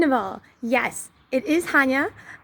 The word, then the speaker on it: Hania: Second of all, yes, it is Hania. And like the Polish pronunciation is Hania, and I guess the English would be Hania, and so it basically sounds the same to a non-Polish ear.